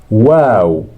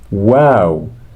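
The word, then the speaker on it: واو: H okay h good wow wow pronounced like the W in when yes when wow so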